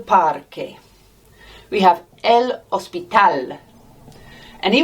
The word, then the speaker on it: parque: Look, it's spelt with a QU. No way we're going to say a qu sound. We're always going to say a k sound when we see las letras QU en español. So, el parque.